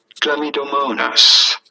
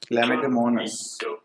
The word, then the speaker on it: Chlamydomonas: How do you go about pronouncing it? Chlamydomonas. Chlamydomonas.